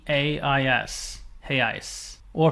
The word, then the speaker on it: real: re e a i hey I or if it's one unit it's heyi spelled re e a l it looks like Real